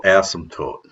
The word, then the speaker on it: asymptote: This line is called the vertical asymptote. And there is a P in there. It is sometimes it's hard for me to say this word and not pronounce the P, asymptote. Sometimes I swallow that P.